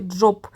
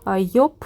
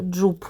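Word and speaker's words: Joop: за мою улюблену фірму я вимовляла її як Джоб взагалі Це неправильно мені писала І глятачка треба казати йоп Іль я подивилася ще в інтернеті написано іноді вимовляють як джуп ну я точно неправильно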